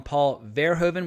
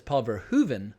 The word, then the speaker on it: Paul Verhoeven: I know some people call him Paul Verhoeven with the emphasis on the first syllable, and my friend Matthijs van der Roos, who's actually from the Netherlands, tells me that the correct pronunciation is Paul Verhoeven.